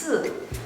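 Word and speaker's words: 四: in Chinese, the pronunciation is 4, which sounds very much like 死.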